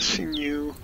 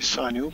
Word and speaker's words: sinew: I had a sinew, I used to say sinew, but I recently learned it's sinew. And I'll keep pronouncing it right from now.